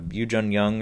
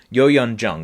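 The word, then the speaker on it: Youn Yuh-jung: Yoo Jun Young or whatever here. Yo Yun Jung.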